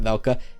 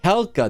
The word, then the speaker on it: Hekla: valka right oh crap this is helca sorry not velka helca this is Heckler sorry